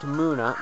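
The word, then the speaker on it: Munna: Yeah, I found out it's pronounced Muna, not Mana. I've been pronouncing it incorrectly the whole time. And you know what? That's retarded. Muna. That's it. Whenever there's a U and two N's, you generally pronounce it like un. Like, you know, funnel or tunnel.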